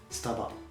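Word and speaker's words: スタバ: We say staba. So if I say staba is wrong, right? Staba. So you have to be fast to say it, staba.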